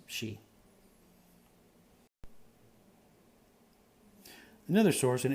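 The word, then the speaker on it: sidhe: d h e um so you pronounce it she but if you were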